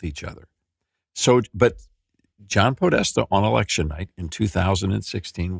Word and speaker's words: Podesta: In Italian, it's actually pronounced Podesta, and it means power.